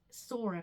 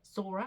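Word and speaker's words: Psora: Mother's side, once again, 5 generations back, and it was Sora, P-S-O-R-A. I'm gathering that's how you say it, Sora. I'm gathering the P is silent.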